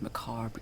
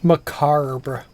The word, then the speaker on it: macabre: years they adorned his macabre gallery macar again that's not how i've heard that word pronounced before i deduce that